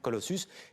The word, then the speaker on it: Colossus: modèle qui s'appelle Colossus, ça se prononce comme ça, Colossus, déployé en Ukraine.